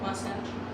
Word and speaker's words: Wasatch: Wasatch? Yeah, Wasatch. Rhymes with Sasquatch? Sort of, yeah.